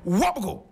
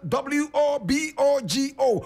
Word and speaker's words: Wobogo: Today we are talking about one of the great kings of Mosi land by name Wobogo.